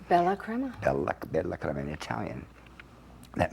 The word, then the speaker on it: Bella Crema: Am I pronouncing it correctly? Bella Crema.